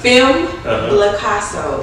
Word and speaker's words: Femmeblaicasso: With that being said, I have a good friend of mine, Miss How you pronounce that? Femmeblaicasso.